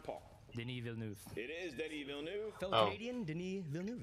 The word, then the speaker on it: Denis Villeneuve: It is Denis Villeneuve.